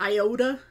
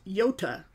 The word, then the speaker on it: iota: the mispronounced name like iota is how you write out the name for that letter in the Greek alphabet but it's pronounced yota Janka so I owe